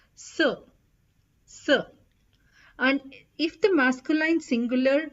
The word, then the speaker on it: ce: singular then you put c e c e pronounced as s s and if the masculine